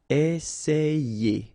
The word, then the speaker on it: essayer: And then you've got another E here, and then you get the sound ye. Essayer.